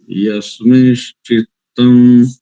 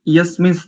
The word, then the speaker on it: यस्मिंश्चित्तं: को छोड़ दिया आपने, वहां पर देखो ना अनुनासिक है ना, यस्मिश, दूसरी पंक्ति का जो प्रथम शब्द है यस्मिश बोला आपने, यस्मिंश, यानी उस अनुनासिक की अर्ध ध्वनि आएगी।